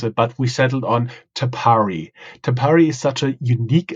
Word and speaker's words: Tapari: been a little bit think about how to pronounce it but we settled on tapari tapari is such a unique and Innovative concept